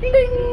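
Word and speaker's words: Tiên: You call me Ting. Ting. Ting. Ding. Yeah, okay. Yeah. Okay. About like 80% correct now.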